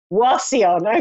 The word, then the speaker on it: Wauseon: yes I am hello and how do you pronounce the town where you're from Lucille what it the Wafi on Wauseon okay nothing like what I said been well